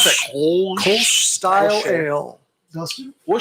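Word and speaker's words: Kölsch: Say How do you pronounce Kolsch. that? Kolsch.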